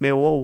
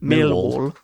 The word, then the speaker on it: Millwall: Because you don't pronounce half the letters, Dave. Yeah, but that's, that's me, isn't it? That's salt of the earth. It's pronounced Millwall when you support Millwall.